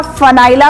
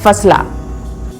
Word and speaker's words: FA9LA: इस तरह फनाइला का सही उच्चारण और वर्तनी है फसला।